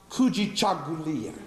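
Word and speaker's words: Kujichagulia: into those seven principles and grab one word pronounced coogi Chuck Julia which means self-determination the reason why I want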